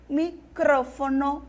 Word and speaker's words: micrófono: e burr em espanol microfone microfone em português e tenho micrófono em espanhol eu tenho polícia em